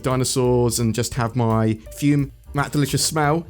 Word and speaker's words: Fum: It's spelt F-U-M. That's how you spell it. It said Fume because it's like classy or something.